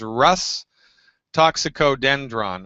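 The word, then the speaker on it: Rhus toxicodendron: So you want to find the tube that says, first I'll say it and then I'll spell it. It says Rus toxicodendron on it, and you spell that R like Roger, H like Harry, U, S like Sam.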